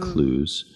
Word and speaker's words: Clowes: lot of celebrities appear klaus hall they pronounce it clues she probably appeared there